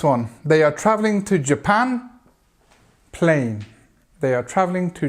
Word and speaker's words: Japan: at this word J and then of course this a is very strong a sound Japan Japan and we've got the the stress on the second part of that word next one the meeting